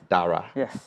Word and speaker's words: Dara: the adventures Lara and Daraa Daraa is the right pronunciation right Dara is the